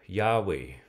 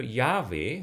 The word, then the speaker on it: Yahweh: So in verse 15 of Exodus, God then says, say to the people of Israel, Yahweh, the God of your ancestors, the God of